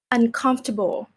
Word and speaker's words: uncomfortable: delicious, Uncomfortable. uncomfortable, Okay, uncomfortable. uncomfortable, This one we don't say uncomfortable. We just say uncomfortable. Like you also pronounce for, but it's very light, like almost silent.